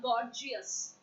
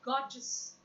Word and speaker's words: gorgeous: Oh my god, most of the time the pronunciation of this word is wrong. It's not gorgeous. No, absolutely not. The pronunciation is not gorgeous. It's gorgeous.